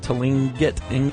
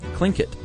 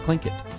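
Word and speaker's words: Tlingit: remember the Tinget Indians that we were trying to pronounce? Apparently, it's pronounced clinkit and we had people write in from Alaska, Matthew.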